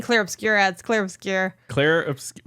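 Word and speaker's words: Clair Obscur: CL obscura Expedition 33c I keep saying clear obscura but it's obscura oh my God no I don't think so it's spelled o s no yeah you're rights but I keep saying clear obscure ads clear obscure clear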